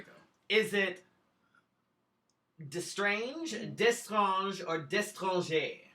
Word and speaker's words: DeStrange: Is it DeStrange, or DeStranger? DeStrange is the correct pronunciation.